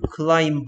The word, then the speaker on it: climb: B는 Okay, 그러면 그 I 그 climb 이러던가요, 왜? Monkeys climb well. Monkeys climb well 이런 것 같은데 B는 소리가 안 납니다.